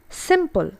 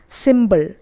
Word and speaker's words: simple: Simple. It's not symbol, it's simple.